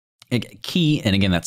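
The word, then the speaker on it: ki: Yeah, it's key, and again, that's spelled K-I, is life energy, yeah.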